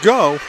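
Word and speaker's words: Gho: Go with the save. He spells his name G-H-O, pronounced go.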